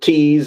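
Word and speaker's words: Thies: I pronounce it Tease.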